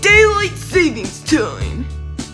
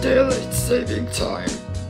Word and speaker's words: daylight saving time: I'm saving the daylight savings time. It's actually pronounced daylight saving time.